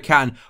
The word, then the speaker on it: Can: is going to be emra can or Chan I believe is pronounced he's actually recing signed